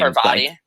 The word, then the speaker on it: Parvati: So I far, only have engineering Pavarti. girl from the start with the P name. Parvati.